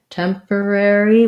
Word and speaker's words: temporary: it down to two temporary we tend to do temporary all the syllables so first syllable stress tem the or can be